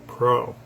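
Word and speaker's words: preux: Another French word pro. So that is spelled P re ux and it basically means she's gallant.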